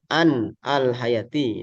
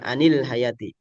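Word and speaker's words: عن الحياة: Tapi kalau diwasol jadi anil hayati ya. Jadi tambahan di bab pembantuan cara bacanya anil hayati has memang an asalnya karena dia huruf jar tanpa ada ni. Ini hanya untuk membantu menyambungkan cara baca gitu. Nah, caranya ya para ulama ahli qiraat ee mengkasrahkan nunnya. Anil hayati. Kalau baca an alhayati juga boleh. Cuma itu berarti posisinya wakaf.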